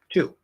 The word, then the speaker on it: to: say to okay and the full form of the word fully enunciated form the word has a t and an u sound not an o or no not a definitely not an o spelled with an o but it's not an o sound as an an u